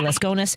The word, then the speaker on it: Laskonis: Joining me is Laskonis. Am I saying your name correctly, my friend? Absolutely, yes. Great pronunciation.